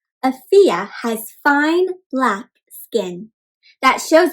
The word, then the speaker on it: Afiya: a story about afiya so afiya is a swahili name in swahili is a language that's spoken in a country in africa and it means health and it is pronounced can you say that afiyah nice so afiya means